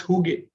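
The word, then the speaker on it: hygge: of such best practices is is the the who gay way of creating a workplace it's it's from scandinavia right it's from denmark it's called h y g g e and it's pronounced hugh now what's in huge kind of workplace a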